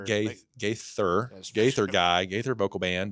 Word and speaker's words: Gaither: And and so when Gather Gaither did I say it wrong? Ga Gaither Gaither guy.